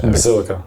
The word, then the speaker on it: Basilica: Is it Basilica or is it pronounced Basilica? Basilica. Basilica.